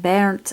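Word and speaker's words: Behrndt: That would be pronounced Bernt, I do believe.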